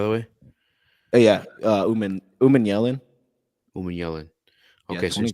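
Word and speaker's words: Umanmielen: Do you know how to pronounce that last name by the way? Oh yeah. Uh Umeman Yellen.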